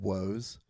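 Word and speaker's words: VVOES: Elijah in a band called wo um which is spelled v v o e s you could find unspell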